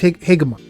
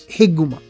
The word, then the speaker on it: Higuma: It's Higuma. Higuma. I want to say it right. Yeah, it's Higuma.